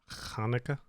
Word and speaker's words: Hanukkah: that's the pronunciation of Hanukkah. it. Hanukkah.